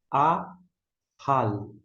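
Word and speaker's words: אָכַל: Da direita para a esquerda, nós temos o Aleph com o alongo, é o Kamitz. A gente vai pronunciar A. Aqui nós temos o Raf com patá, som de A embaixo, e o L. A, hal.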